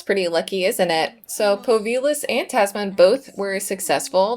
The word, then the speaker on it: Povilas: I think it's pronounced Povilas, and if I'm not very much mistaken, it is the Lithuanian form of Paul, which is cute.